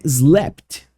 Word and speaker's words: slapped: é um verbo então no passado é slapt a gente adiciona o Ed e dobra o p Can you believe that